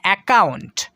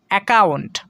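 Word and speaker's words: account: এ ও ইউ থাকবে, সেখানে কিন্তু ডাবল সি এর উচ্চারণ শুধু একটাই করতে হবে, ক, এই সাউন্ডটাই আমাদেরকে করতে হবে।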